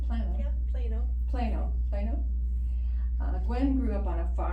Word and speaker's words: Plano: Yeah, Plano.